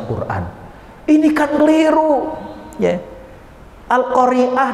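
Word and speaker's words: القارعة: namanya Qoriah jadi surah al-qariah itu artinya adalah perempuan yang pandai baca Quran ini kan keliru ya al-qoriah dengan al-qariah Ain dengan Ain itu beda Ain dengan Alif itu beda cara bacanya kah keliru nafsirinnya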